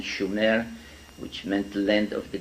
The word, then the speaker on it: Sumer: in a land called Sumer, in the correct spelling and pronunciation, Shumer, which meant land of the guardians, in southern Mesopotamia, which is today's Iraq.